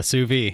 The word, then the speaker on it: sous vide: What we're going to talk about is something I don't even know if I can pronounce. A sous vide? Yeah, sous vide.